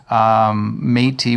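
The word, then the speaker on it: Métis: tea soy so and this is the way how you say it folks you can spell it ma y te e and it gives you a look like matey then you'll know exactly how we say it so I mean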